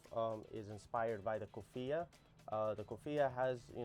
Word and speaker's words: Coffiyeh: It's actually Kofia.